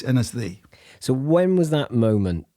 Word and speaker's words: Ynysddu: Was a place called Anasthee, but it's spelled Ynysddu.